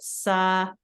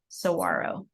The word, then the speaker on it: saguaro: how you pronounce it, saguaro. It's basically telling you how to pronounce the word because it is a Spanish word, so you don't hear the G, saguaro.